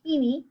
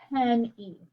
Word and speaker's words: penny: I don't say peeny, I say penny.